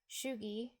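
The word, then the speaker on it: sjuttio: Shugo can be pronounced shugi.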